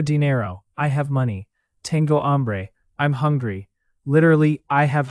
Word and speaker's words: hambre: And remember, hambre is feminine in meaning, but you say el hambre in some cases because the word starts with a stressed A sound.